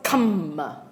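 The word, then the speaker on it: kāma: This is not K-A-M-M-A. This is one M only. So for those of you taking exam, you better know the difference. Very shy, Okay. Kamma vitakka. So this is pronounced as kamma vitakka. The other one is kamma, okay?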